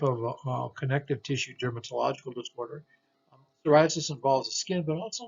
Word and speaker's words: psoriasis: right here p-a-p-s okay and this is psoriasis not sora not so but psoriasis and psoriasis is basically a really interesting type of connective tissue dermatological disorder psoriasis involves the skin but